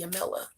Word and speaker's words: Jamila: Anyway, I could say Yamila, but then again, that's not how I'm used to pronouncing it. But the technical pronunciation is supposed to be Yamila. And it's supposed to completely be silent, and I think, Muslim